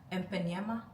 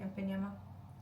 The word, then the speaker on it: Ipanema: And then from there I went closer to Ipanema. I think that's how you say it, Ipanema, in Brazil.